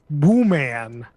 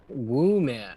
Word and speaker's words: Wooman: Because it was called out with Jane Wooman Tucker. Woo man. Oh, that's how you pronounce it. Wooman.